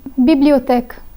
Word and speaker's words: bibliothèque: As you see, each of these four letters end with the letter E, and each time the letter E is silent. So you pronounce the words as though the final E were not there.